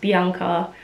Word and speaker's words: Bianca: newcastle australia and yes my name is not bianca it's pronounced bianca um i come from an italian background on my mum's side so that's why it's pronounced bianca because she wanted to keep it authentic um my surname is